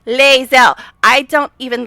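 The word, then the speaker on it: Lae'zel: Even though they say it in the game, people cannot seem to pronounce Leel. Even though people say it in the game, but I guess the people who can't pronounce her name just play the game and mute. I don't know. But it's Leel.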